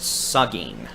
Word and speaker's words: Seguin: So, again, Seguin. Pronounced Sugging. Seguin, Sugging.